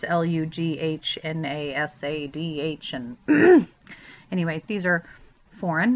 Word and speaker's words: Lughnasadh: awareness of the trumpets, preceded by Lunasa. It looks very different, of course, Lughnasadh.